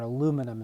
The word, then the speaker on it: aluminum: here and that's alum it's either aluminium if you want to use the british pronunciation or aluminum if you use the american we'll use the american